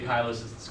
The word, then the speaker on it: cholecystokinin: intestinal face of digestion you can say Kyle assists cholecystokinin that's fine I don't know one